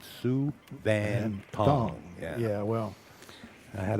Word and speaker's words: Souvanthong: He said Sue Van Tong.